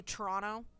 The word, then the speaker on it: Toronto: like for instance like i say toronto i don't pronounce the second t i don't know why i just don't um you can youtube